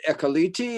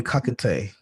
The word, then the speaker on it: Ekakite: Ekaliti, is it? It's Ekakite.